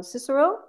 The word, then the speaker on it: Cicero: Cicero.